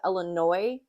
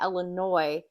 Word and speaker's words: Illinois: in the state of Illinois don't say Illinois they say Illinois the S is silent so if you don't